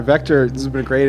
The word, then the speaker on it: VCTRE: vector and we're good v c t r e c t r e yes and that's how it's pronounced vector oh yeah I get